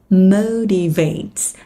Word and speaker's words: motivates: What motivates, đọc dùm Thủy nhấn âm 1 nha, âm O, motivates you at work.